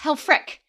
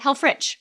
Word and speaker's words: Helfrich: is h-e-l f-r-i-c-h yes correct yes it's pronounced hell Frick cannot pronounce it health Rich which is what I do all of the